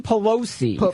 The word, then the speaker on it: Pelosi: It's Nancy Pelosi, first of all.